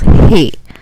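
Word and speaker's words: ہ: It has a ha sound. The name is Hey, and it has similar to our English H.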